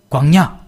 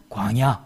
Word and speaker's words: 광야: 제가 이제 경상도 사람이라서 이 앞에 발음을 광야 광야 그렇게 이야기 하는데 우리 아내가 그렇게 하지 말라고 광 에다가 힘을 빼고 뒤에야 차에다 힘을 주라고 그래서 광야 함 해보세요 거 아냐 아 이